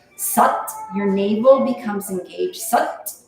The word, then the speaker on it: Sat: When you chant Sat, it's almost like S-U-T, like butt mom. That's what it rhymes with. Sat, your navel becomes engaged.